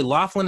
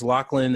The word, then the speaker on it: Loughlin: this specifically because Lori is it Lori Loughlin is how you say it little I'm Lori Loughlin I think it's Lachlan their lawful and however